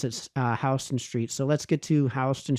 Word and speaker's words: Houston Street: I know people, when they first go to New York, think it's Houston Street. The locals there pronounce it Houston Street.